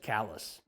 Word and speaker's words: Calais: across the river is callous maine it's spelled like calais but they pronounce it callus norm discovered that in 1812 the citizens of saint stephen and the citizens of calais decided not to go